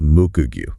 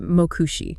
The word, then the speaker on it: Mokugyo: very strict premise data, that handle is pronounced Mokugyo. Mokugyo, got it. So, not uh Mokushi. Definitely not Mokushi, and definitely not Damagyu or Damagyu.